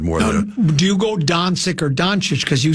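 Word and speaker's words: Dončić: Do you go Doncic or Doncic? Because you said you went both ways on that one as well. I just say Doncic.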